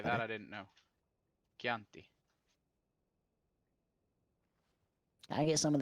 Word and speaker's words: Chianti: I'm gonna How go is break it noodles in pronounced? half. Chianti? Chianti. Chianti. That's Okay, that better. I didn't know. Chianti.